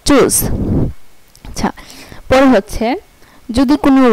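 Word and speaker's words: tschüss: আচ্ছা, পরে হচ্ছে যদি কোনো ওয়ার্ডে TSCH একসাথে থাকে তাহলে এটার উচ্চারণ হবে চয়ের মতো। যদি কোনো ওয়ার্ডে TSCH একসাথে থাকে তাহলে এটার উচ্চারণ হবে চয়ের মতো। এই যেমন TSCH ইউমলাউট ডাবল এস, চুজ, এই যে TSCH এই ফুলটার উচ্চারণ হয়েছে চয়ের মতো, এই যে চুজ।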